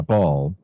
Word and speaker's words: Baal: Ball. Yeah. B A L L.